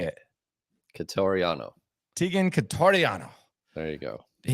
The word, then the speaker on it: Quitoriano: Quitoriano.